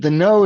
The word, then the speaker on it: Knoo: It's called The Know, spelled KNOO. So not intuitive pronunciation, but The Know is owned by a